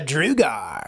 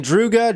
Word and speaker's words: drugar: LP but yeah this RDA is called the drugar now I know people are saying drugga drugga but you know Agate the guys that